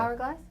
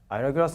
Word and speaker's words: Ira Glass: Like, is that, am I pronouncing it right? Yeah. Hourglass? Ira Glass?